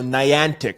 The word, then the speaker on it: Niantic: Geo models for navigation ever there we go Niantic is how you pronounce it yo I want some of that